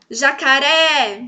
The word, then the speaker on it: jacaré: Jacaré, jacaré. Bom, é a última. Sempre que for a última é uma oxítona.